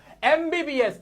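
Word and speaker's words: MBBS: एमबीबीएस। एमबीबीएस में ए का sound आ रहा है। एम को बोलते हैं हम इस तरह से।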